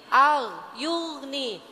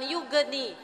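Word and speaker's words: يغني: qqalah ya Bu ya Jadi yugni bukan Yugi kalau ibu bacanya Yugi kurang tepat ya Bu ya jadi yni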